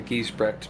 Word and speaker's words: Giesbrecht: No one ever gets it right. It's Giesbrecht, but it's hard to pronounce because it's changed over the years.